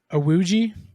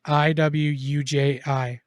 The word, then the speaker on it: Iwuji: Chukwudi Awuji is the actor's name. Spell it. Wait, what is You his really? name? Chukwudi, Chukwudi, and then his last name is Iwuji.